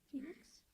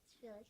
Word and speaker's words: Felix: Phoenix? Was it Phoenix? Oh yeah, Felix. Yeah. Okay, I said it wrong.